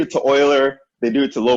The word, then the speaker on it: Euler: one version of a limit no it's it's Euler okay yes it's pronounced like Euler okay so what else did I miss any